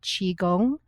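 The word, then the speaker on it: Qigong: I also looked into um an exercise called Chiong spelled QI. It's spelled Qi G O N G and it's all about flow of energy.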